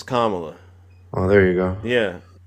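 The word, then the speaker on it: Kamala: Did you vote for Did you vote for Camela? And why did you vote for her? Well, I said her name is Kamla.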